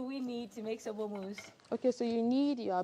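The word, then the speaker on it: mousse: so M first so moose so moose is spelled m spells m o u s s e if you expain it in the French way but why Mo though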